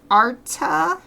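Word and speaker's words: Arte: in Renaissance Europe uh it's called Arta like it's spelled art with an e on the end so if anybody wants to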